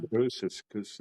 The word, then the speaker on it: Ursus: Is that how you pronounce it? Ursus School of Ursus, Shaman? yeah, Ursus, yeah, right?